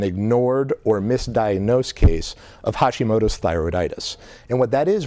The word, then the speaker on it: Hashimoto's: way they used to, etc., that they have Hashimoto's. Am I pronouncing right?